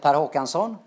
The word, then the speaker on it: Håkansson: Scandinavians around here uh in Swedish it's a taro canson which is tongue twister so uh since I